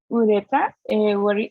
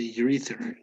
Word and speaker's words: urethra: Um, well, I think ureta. What would be the pronunciation about that one? Okay, urethra.